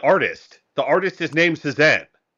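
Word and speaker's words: Cézanne: The artist is named Sesan.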